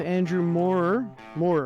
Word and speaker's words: Andrew Moorer: So we are here with Andrew Moore, right? Am I pronouncing that right?